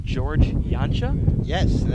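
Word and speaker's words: Janca: George Yancha? Yes, and that's spelled J-A-N-C-A, but it's pronounced Yancha.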